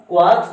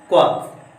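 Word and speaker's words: quarks: ध्यान से समझिएगा, क्वार्क्स में आर साइलेंट होता है जिसके कारण इसको क्वार्क्स ना पढ़ के क्या पढ़ा जाता है, क्वार्क्स।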